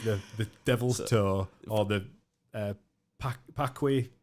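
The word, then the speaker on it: Paqui: I cannot imagine what goes through a human like having to eat the devil's toe or the pakwe. How do you pronounce that?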